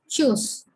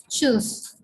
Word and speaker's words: Tschüss: Bye is called Tschüss. Okay. Here U is the third umlaut and the T is silent. Okay. So it is Tschüss. Tschüss.